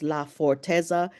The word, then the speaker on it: Laforteza: It's Laforteza.